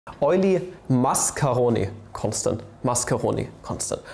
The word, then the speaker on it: Mascheroni: EUler Mascheroni Constant. Mascheroni Constant. Right. Not Mascheroni, not macaroni, Mascheroni. This time I pronounced it correctly.